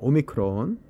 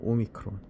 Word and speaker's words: 오미크론: 자, 오미크론. 자, 오미크론. 그냥 오자 동그랗습니다. 오 발음이고요. 오미크론.